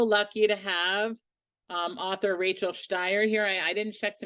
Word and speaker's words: Shteir: We're so lucky to have author Rachel Shteir here.